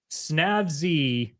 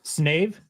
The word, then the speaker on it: Snave: Snav? I pronounce it Snav. Box number 2, Snave. Yeah, there is an E on the end. Why would you pronounce that Snav? I don't know, because it sounded cool.